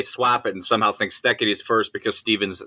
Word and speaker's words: Steketee: It is pronounced Steketee, Steketee, Steve Steketee.